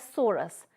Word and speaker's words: sorus: In singular, we can say it or pronounce it as sorus, which may or may not be covered by multicellular structure called indusium.